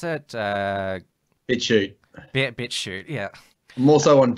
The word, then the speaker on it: BitChute: I mean, you're on the YouTube platform, but you're also on their free speech alternative, which is, how do you pronounce it? BitChute.